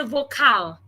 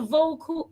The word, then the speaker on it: vocal: Note, I didn't say vocal, vocal because the A should not be pronounced, remember? So, let your vocal cord vibrate.